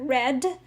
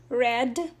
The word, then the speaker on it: read: hurt rather hurt read reads reading now the pronunciation changes here red red let's repeat read reads reading red red okay same spelling but different pronunciation for the past and the past participle spread spreads spreading spread